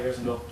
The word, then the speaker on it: Harrisonville: And then when you get to distinguishing between the zones, for example, from Harrisonville, am I saying it right, Harrisonville? Mm-hmm. Yes. Okay.